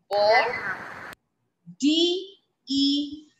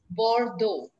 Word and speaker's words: Bordeaux: Bor. D-E-A-U-X.